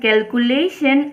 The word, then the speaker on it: calculation: ত কি কৈছে চোৱা notice that information and calculation are pronounced with the stress in the third syllable that is we say the third syllable more strongly than others এতিয়া চোৱা এটা এইখিনিতে